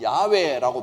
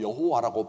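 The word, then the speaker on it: 야훼: 그게 다가 아니라는 겁니다 우리가 사실은 여호와라고 발음해야 되는데 아니 사실은 야외라고 발음해야 되는데 잘못 알고 여호와라고 발음했다 해서 하나님이 너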